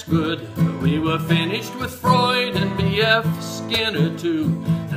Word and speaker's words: Freud: Not Freud, not Freud, not Freud, but Freud in psychology. Looks like phonics don't work with F-R-E-U, Freud, the id and ego dude.